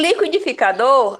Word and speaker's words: liquidificador: Em liquidificador, a sílaba mais forte é a última, tá certo?